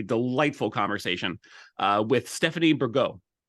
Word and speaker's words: Bergot: conversation uh with Stephanie burgo T is silent correct yes practice pronunciation